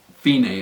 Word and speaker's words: Fine: last word there is Feeny it's pronounced Feeny but it looks like the word fine so you go from